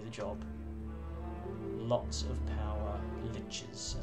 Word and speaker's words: liches: Lots of power liches, as I've found out. That's how you pronounce that word.